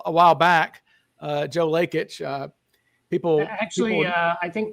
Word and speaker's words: Lakich: while back uh Joe lakic uh people actually I think they pronounce his name lackage lackage like a lat okay Lage what that's what his brother told me that they pronounced their name lackage lackage good deal okay